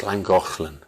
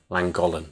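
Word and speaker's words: Llangollen: and a half five miles north of langolen pronounced langofland right so apparently the Welsh locals um let you get away with saying langolen but we don't do it you say not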